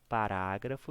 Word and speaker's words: parágrafo: pegar aqui no parágrafo parágrafo ele é uma proparoxítona porque ó fograr a parágrafo foi a última gralha pelo última irá é o antepenúltimo então gra é a sílaba mais forte de toda a palavra proparoxítona é acentuada por